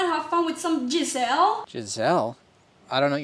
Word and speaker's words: Geissele: It's pronounced Geissele. Geissele?